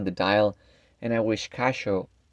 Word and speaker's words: Casio: dial and i wish casho cashio actually that's the correct way to pronounce cassio iscacio in japanese i wish cassio brings